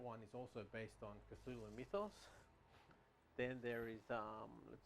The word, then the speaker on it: Cthulhu: I think they said that like I've read it on Wikipedia that the way to pronounce it is actually more like a gurgling sound, like Cthulhu or something like that.